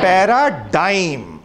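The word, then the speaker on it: paradigm: क्या प्रोनाउंस किया मैंने अभी, उसको सुनाई नहीं दिया, एक बार सब लोग एक साथ बोलो, पैराडाइम. लिखते DIGM है, प्रोनाउन DYME करते हैं, पैराडाइम, प्रोटोटाइप.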